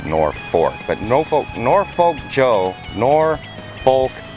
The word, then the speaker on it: Norfolk: It's spelled Norfolk, but everybody pronounces it Norfolk.